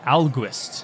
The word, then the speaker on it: Ahlquist: Ahlquist, not August, Ahlquist.